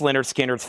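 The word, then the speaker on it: Lynyrd Skynyrd: Pronounced Leonard Skinner's, $59.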